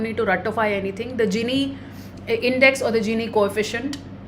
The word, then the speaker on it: Gini: to ratify anything the genie index or the genie coefficient is a some people also pronounce it as guinea it's a proper noun